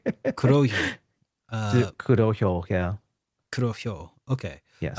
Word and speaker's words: Kurohyo: So fan group Team K4L have announced that their English translation of the 2010 Yakuza game, PSP title spin-off Kuryo. It's a hard word to pronounce. Kurohyo.